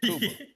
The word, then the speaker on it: Cuba: That's how you pronounce it. Kuba.